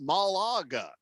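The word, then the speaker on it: Málaga: Pickens hat says uh it's pronounced Malaga it's been a year there Malaga Malaga well then I've been saying it more right you said Malaga I said yeah oh no I said it right Malaga yeah you did oh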